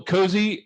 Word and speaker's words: COSE: Uh we suggest you pronounce it cozy. Uh it's not and not cozy just because cozy sounds cooler and that was kind of Kathleen's idea.